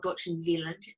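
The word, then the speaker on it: Dortchen Wild: of dorchen wild or doctrine villain as her name is pronounced in German it's spelt wild and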